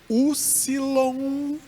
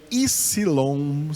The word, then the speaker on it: upsilon: Então essa letra aqui, a 20ª letra, em grego ela pode ser Upsilon, se ela tiver o som de U, ou Ypsilon, se ela tiver o som de I.